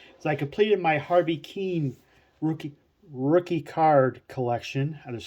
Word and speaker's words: Kuenn: peeve of mine uh people who are unfamiliar with Mr Keane often mispronounces his name as or something similar but it is gonna focus a little bit it is Harvey Keane it's how it's pronounced he was a um